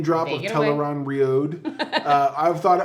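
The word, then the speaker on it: Tel'aran'rhiod: the name drop of ton Rod uh I've thought I've always said ton Riad but it's ton rod and that's fine and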